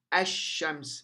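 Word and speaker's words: الشمس: notice that the lamb in L is not pronounced it it's silent and the Sheen is strengthened so it becomes a shams as shams meaning there is shed over the scene on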